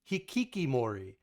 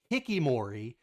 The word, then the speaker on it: hikikomori: Sam Disfaction says Hikikomori, they also call it the Ninis. The Ninis. Interesting. I did not know that. So you say Hikikimori, but the way Ryan was pronouncing it, it sounded like Hikimori.